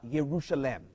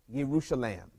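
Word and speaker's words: ירושלים: words that make one word in Hebrew it's pronounced uh yerusalem yerusalem and the beginning of that Yu ye r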